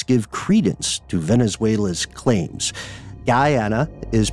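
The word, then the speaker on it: Guyana: way only helps give Credence to Venezuela's claims Guana is pronounced like d Ana ASO is pronounced with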